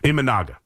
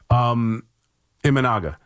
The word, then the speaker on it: Imanaga: I always pronounce his name wrong. You're getting the Japanese pitcher right from the Cubs, Imanaga. Imagine all the people. Imanaga is pitching, and he's tough.